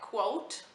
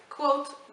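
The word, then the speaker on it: Kvothe: boy named quote uh I read somewhere that it was pronounced like quote so I will pronounce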